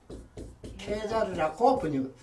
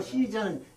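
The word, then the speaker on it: Caesar: 시적하는 게 이제 지금은 케자르라고 풀이하고 풀이를 하는데 요 시저는 영어식 발음인데 예. 시저 이걸 갖다가 성경에는 가이사 성경에는 가이사 케자르 시저 좀 같은 말입니다. 가이사. 그러니까 지금 전에는 이게 이제 세계사에서도 미국식 표현을 그대로 가져왔었는데 예. 지금은 통조가 예. 원어 발음을 가급적 살리자 아. 그렇게 해가지고 지금 케자르라고 쓰거든요. 케자르.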